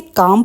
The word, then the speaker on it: calm: काम मतलब चुपचाप, CALM, इसे काम पढ़ेंगे, एल यहाँ साइलेंट है, तो मैं चुपचाप रहा।